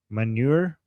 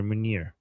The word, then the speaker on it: Munir: Manure? Not manure, Munir.